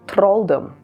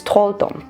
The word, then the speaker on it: Trolldom: This is simply a huge collection of Trolldom goodness, and I don't know why I always pronounce it Trolldom. It's Trolldom, but well, who cares?